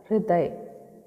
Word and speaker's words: हृदय: हृदय, हृदय, ह में री, ह के साथ री लगी है, री की मात्रा। हृदय।